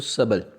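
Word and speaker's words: subtle: सातवें पर आ जाएं तो सबल। सबल कहते हैं काफ़ी अच्छे अच्छे, सबल, ठीक है, सबटल नहीं बोलेंगे।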